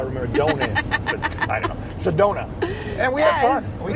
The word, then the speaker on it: Sedona: Sedona. Sedona. Yeah, Sedona. I'm not sure Give why. give me some donuts. That's how I remember donuts. I don't know. Sedona.